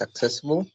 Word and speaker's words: accessible: Okay, so the first one is accessible, and I count 4 syllables, and I think that the stress is in the second, accessible.